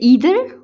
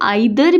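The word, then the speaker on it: either: English language में, जैसे ईदर और। अब ये जो लफ्ज़ है इसको आइदर भी पढ़ा जाता है, ईदर भी पढ़ा जाता है, लेकिन जो इसकी करेक्ट प्रोनाउंसिएशन है वो ईदर है, ईदर, ठीक है।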